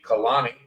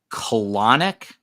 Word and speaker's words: Kanani: U young man named Kanani got in there after a couple of days of searching and he say his name is colanic no no Kanani oh Kanani okay I think you said colanic by the way uh